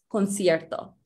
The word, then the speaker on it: concierto: And notice how the C, the first C is a K and the second is a S sound. A C before an A, O or U makes a K sound, but before an E or an I makes an S sound, concierto.